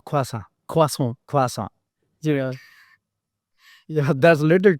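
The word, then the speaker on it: croissant: for the word but I used to call this crossant right but uh quasa quas quasa yeah that's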